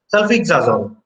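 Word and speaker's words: sulfisoxazole: Sulfixazole. So it is pronounced as sulfixazole, but however, this is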